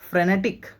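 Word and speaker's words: frenetic: फ्रेनेटिक। फेनेटिक नहीं बोल रहा हूं मैं।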